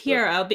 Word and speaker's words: Pierrot: pronunciation probably piero yeah it's pierrot after the clown because that's why they have a clown mascot for this and i mean and